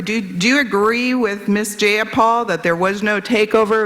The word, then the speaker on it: Jayapal: Jayapal that there was no takeover? It was just Jayapal. If you're going to say my name, please say it right. It's Jayapal.